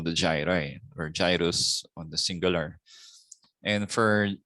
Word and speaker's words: gyrus: Is it gyrus or is it gyrus? So obviously the cat is correct. It is gyrus. So UPCM graduates, please pronounce this as gyrus.